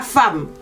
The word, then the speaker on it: femme: Vous pouvez m'écrire la femme. On écrit femme, mais on prononce femme.